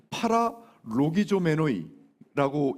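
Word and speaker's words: παραλογιζόμενοι: 자, 원문은 파라로기조메노이라고 읽거든요.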